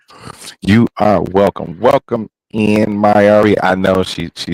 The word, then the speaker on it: Mayari: She is the Divine Reaper, Mayari. You said it right. Yeah, I know, right? Thank you. You are welcome. Welcome in, Mayari.